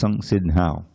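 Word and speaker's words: संसिद्धौ: When you see a double letter, it means the first syllable is heavy. Instead of buddhi, it's buddhi. Instead of samsiddhau, it's samsiddhau.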